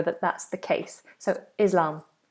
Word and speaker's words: Islam: So Islam, Islam, it's a voiced S.